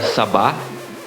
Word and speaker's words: SB19: We are Sabah, Labing Siyam. Kasi SB sa ba, sa, like the pronunciation of S sa, then B ba.